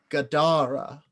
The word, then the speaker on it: Gadara: And this time it spoke a 3-syllable word that sounded like Gadara, with the second syllable emphasized. Gadara.